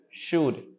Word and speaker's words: should: should should can should should be L here okay the L doesn't sound should and negative four you